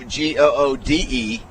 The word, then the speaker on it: Goode: Steve spells his name Goode, but it's pronounced good.